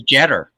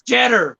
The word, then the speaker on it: Jeter: I thought it was Jetter, like cheddar. Bruce Jeter.